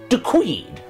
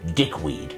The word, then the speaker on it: de Queed: Margaret de Queed. I did pronounce it correctly then, Margaret. I didn't say dickweed, which I know you don't approve of.